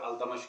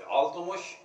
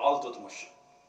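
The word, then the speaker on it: इल्तुतमिश: अल्तुतमिश किसको हमारे आमतौर पर अल्तमश कहते हैं, जिसका सही प्रोनाउंसिएशन तो तुर्की है, दो तरह से अल्तुतमिश या अल्तुतमिश, कभी वो आ गए इस्तेमाल बन के।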